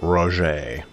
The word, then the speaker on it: Roger: And yes, I know Roger is pronounced Roger.